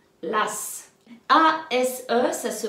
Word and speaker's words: as: Donc, un as. L'as. A-S-E, ça se prononce as.